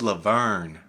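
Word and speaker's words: La Verne: That's not how you say it. It's Laverne.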